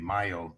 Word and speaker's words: Mayo: Because I'm mixing up DeMayo and Yeah, the Mayo study is M-A-Y-O. It's as though it should be pronounced Mayo.